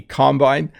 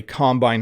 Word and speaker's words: combine: of farm piece of farm equipment is a combine so i didn't talk about this word last week but someone asked about different pronunciations this is a combine or a combine harvester we usually just call it a combine